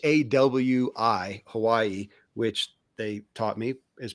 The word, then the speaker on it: Hawaii: It is my So, Jake and Hannah live in It's H A Wii, Hawaii, which they taught me is pronounced Javi.